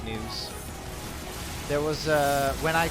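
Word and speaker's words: Nue: a cus and a new uh a new is spelled Nu u e I believe news are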